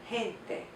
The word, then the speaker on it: gente: So the letter G makes two sounds. It can make a hard G and a soft G. The soft G is more like our H. Gracias, gente.